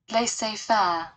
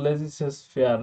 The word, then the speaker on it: Laissez-faire: Laissez-faire. ওদের উচ্চারণে আবার ওদের যে উচ্চারণ সেটা তো আমরা পারবো না। Laissez-faire. লেসি ফেয়ার, আমরা তো লেজিসেস ফেয়ার এটা বলতেই অভ্যস্ত, গোপালগঞ্জ, গোপালগঞ্জ থেকে আছি।